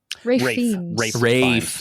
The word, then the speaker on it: Ralph: It's Ralph Fiennes, right? Rafe. That's right.